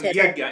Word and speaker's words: Yajna: Oh, yajna.